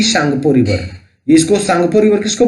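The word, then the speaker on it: Tsangpo: और यहाँ पे आप देख सकते हैं टी सांगपो रिवर, इसको सांगपो रिवर किसको बोलते हैं? ब्रह्मपुत्र को बोलते हैं। टी साइलेंट रहता है।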